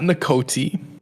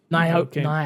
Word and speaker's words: Naoki: Not Nakoti. Naoki.